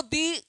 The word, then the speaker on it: the: तो हमने लिखा है द को दी जब पढ़ेंगे जब साउंड क्या हो? वोवेल्स हो। जैसे द एिफेंट जैसे द इलेक्ट्रॉनिक्स ऑफ इलेक्ट्रॉनिक क्या तो यहां पर उच्चारण क्या आ रहा है? वाउ्स आ रहा है ना?